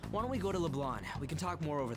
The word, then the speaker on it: LeBlanc: I really don't like how they pronounce We LeBlanc. went through all sorts of options on our way Like, here, why are they pronouncing it like the C is silent?